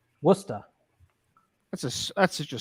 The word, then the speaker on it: Worcester: ours there in Boston they just said woosta is that right Worcester that's a that's such